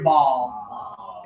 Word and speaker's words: ball: And then here's the easy one. Touch right here, ball.